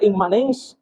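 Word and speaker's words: immanens: La palabra inmanencia viene obviamente inmanente, viene del latín que se pronuncia inmanens, que se encuentra conformado por dos partes claramente diferenciadas.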